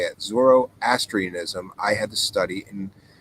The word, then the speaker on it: Zoroastrianism: Originally got into, that's how you say it, Zoroastrianism. I was struggling to say that earlier, Super V Funcat. So thank you for writing it, because somehow when you wrote it, now I can say it. Zoroastrianism, I had to study in Catholic school.